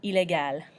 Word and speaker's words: illégal: But we do pronounce the L at the end. Illégal, meaning illegal.